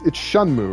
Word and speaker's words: Shenmue: It's Shenmue, right? Shenmue is how you pronounce that.